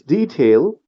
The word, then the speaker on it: detail: Similarly, the way you pronounce this word, it is detail, stress on this part, detail, not detail, right?